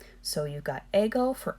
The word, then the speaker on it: ego: So the first person singular pronoun, remember the ego waffle. I is ego. it's not spelled the same way as an Eggo waffle, but whatever.